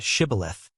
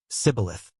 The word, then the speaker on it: shibboleth: They asked them to say the word shibboleth, which means ear of grain. The Ephraimites, because of their dialect, could not pronounce the sh sound and said, Sibboleth.